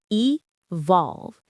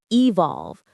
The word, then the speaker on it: evolve: It has two syllables. Evolve. Evolve. The stress is on that second syllable. Volve. Evolve.